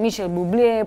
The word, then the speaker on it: Michael Bublé: como decía Diego, con Michael Bublé. Algunos le dicen Michel Bublé porque también es canadiense y se hace así como una diferenciación en la pronunciación de su nombre.